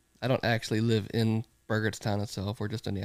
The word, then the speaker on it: Burgettstown: can't read that text Town how do you pronounce it burgerstown Burgers Town yep it's a mouthful it's a